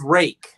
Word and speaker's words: Ruike: It's pronounced Rake.